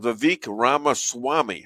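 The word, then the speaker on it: Vivek Ramaswamy: with what you mentioned with Elon Musk and vque ramas Swami how's that uh and you actually pronounced it right you can't remember my name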